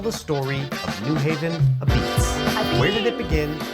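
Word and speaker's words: apizza: But first, why is it pronounced a-beetz? Right, yeah. In Naples, Italy, la pizza is shortened to a-pizza in the local Neapolitan dialect. And when those Neapolitan immigrants came here to Connecticut, a-pizza was shortened even more to the Italian-American a-beetz.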